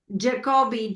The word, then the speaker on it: Jacobi: Jacobi, J-A-C-O-B-I.